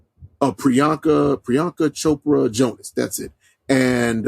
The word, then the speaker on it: Priyanka: which stars I don't want to get her name wrong a prianka Priyanka Chopra Jonas that's it and uh Richard Madden